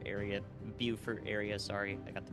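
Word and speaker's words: Beaufort: together but you know the Port Royal and Bower area buur area sorry I got the pronunciation now uh is in the line of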